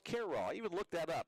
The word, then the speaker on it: Cairo: freshman from Cairo Nebraska spelled like Cairo Egypt but pronounced Carroll he would look that